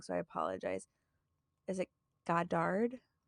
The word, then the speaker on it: Goddard: quoted Henry H I always pronounce this last name wrong so I apologize is it Goddard it's g-o-d-d-a-r-d Goddard I'm not yeah every feeble-minded person is